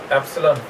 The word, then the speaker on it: epsilon: Pronunciation क्या है? एप्सिलॉन, EPSILON, ये सिंबल।